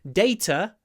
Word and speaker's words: data: the mysterious linking R data ends in the schah sound a bit like the word later later data I think you can hear that they both end in the same sound later data later data